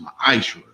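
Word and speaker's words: ma'aser: It means 10th in the Hebrew and is pronounced ma'ashra.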